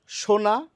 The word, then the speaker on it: সোনা: তালবসয় ওকার দন্ত নয় আকার দন্তসয় ওকার দন্ত নয় আকার বানান আলাদা উচ্চারণও আলাদা হওয়ার কথা কিন্তু আমরা বলি সোনা শোনা দুটো ধ্বনি এক হয়ে যায় আমাদের মুখে